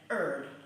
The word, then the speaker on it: herb: Because I'm English and I pronounce my H's. Here. Like a lot of people here. They say things like herb, which is quite strange to me.